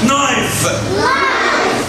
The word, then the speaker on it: knife: السكينة knife. سايلنت عشان بعدها ايه؟ نايف.